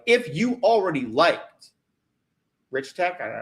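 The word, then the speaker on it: RichTech: Like if you already liked Rich Tech, I don't know how to say it right. I was saying it Reich Tech in my mind.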